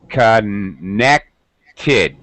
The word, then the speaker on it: connected: connected connected very good this is the only case the three rules where we're actually going to add an extra syllable we're going to add an extra vowel sound connected three syllables three specific vowel sounds connect only the